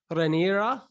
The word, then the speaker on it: Raniera: too i'm going to hopefully nail this renera is that right bro beautiful bro i've got to roll